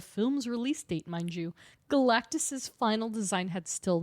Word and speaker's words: Galactus: The Galactus. It's exactly how you think it is.